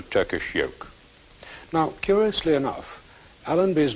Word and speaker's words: Allenby: Now, curiously enough, Allenby's name, pronounced as an Arab would say it, Ali en-Nabi, means prophet of the Lord.